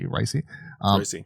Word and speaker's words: Paul Raci: Raci.